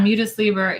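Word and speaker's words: Mutus Liber: thing uh lady alchemy mootis lieber is that how you pronounce that yeah mutaslieber it's latin for um the mute book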